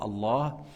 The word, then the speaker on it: Allah: le nom de Dieu Allah il faut prolonger le alif avant le ha et le fait de